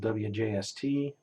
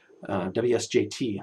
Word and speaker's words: WSJT: So we'll fire up good old WJST, kind of arrange things so we can see all of them at once. I don't think I have anything covered up here. And WSJTX, WSJT, I keep saying it wrong, I think. WSJT, I maybe even had it in my diagram wrong.